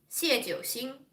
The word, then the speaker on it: 谢九星: And so my full Chinese name, in the order it's supposed to be pronounced, is 谢九星. 谢九星.